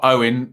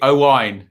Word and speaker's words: Owain: Get the Welsh name right, not Owen. Phonetically, Owain.